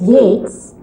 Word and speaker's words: Yeats: The pronunciation of a word doesn't always follow the spelling. Hence, even though these two surnames of English poets, Yeats and Keats, are spelled almost alike, you pronounce the first as Yeats and the second as Keats.